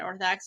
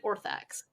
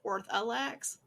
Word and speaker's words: Orthax: kill the person that Orthax wanted him to. What was the name of the gun? The demon? Orthax. Orthax, thank you. Mm-hmm. I think I've always pronounced it Orthalax, which isn't right.